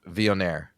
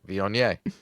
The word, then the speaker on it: Viognier: So I'm going to say a word, and then Colin's going to pronounce it correctly. Viognier. Viognier. See, Viognier.